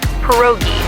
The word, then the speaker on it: pierogi: Pierogi? Did I pronounce that right? It's pronounced pierogi, a tasty dish like dumplings.